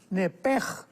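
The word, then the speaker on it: נפש: En el hebreo se pronuncia la SH con J, entonces la pronunciación hebrea es nepej.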